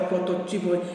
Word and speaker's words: protótipo: Tem protótipo, é protótipo, é intuito, é intuito.